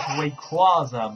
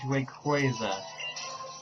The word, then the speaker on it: Rayquaza: Rayquaza is the, I really want to say it, is the most mispronounced Pokemon in existence. Many people actually do say it as Rayquaza, but it's Rayquaza.